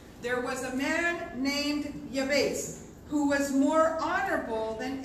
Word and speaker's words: Jabez: And so I want to open up with We Americans, we say the prayer of Jabez, but it's actually the prayer of Yabez. The name is pronounced Yabez. Amen.